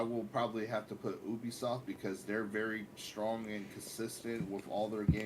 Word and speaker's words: Ubisoft: eat an eggplant sir both of you said Ubisoft thank you because that's how you say it it's not you be soft the only thing that's